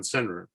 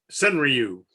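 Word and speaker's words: senryu: and uh alan pizzarelli gave a presentation on cenra and um uh sun ryu by the way is the way you actually pronounce it but i've given up trying to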